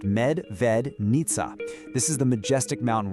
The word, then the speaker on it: Medvednica: the local name right, Medvednica. Pronounced Med-ved-nitsa.